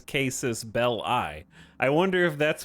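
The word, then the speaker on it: casus belli: only ever read it it's not belly I'm willing to like hold on here's Google cases belly Google says cases cases belly but also says belly as the American pronunciation but if you look on you glitch which tells you how to speak English that says casus Bell I I wonder if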